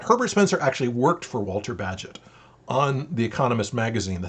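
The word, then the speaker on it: Walter Bagehot: with i want to talk about uh use walter badgett that's the way you pronounce his name he was the editor for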